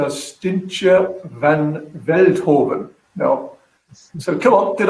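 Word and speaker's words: Stientje van Veldhoven: And it's Stintje van Veldhoven. Now, so come on, did I pronounce that anywhere right?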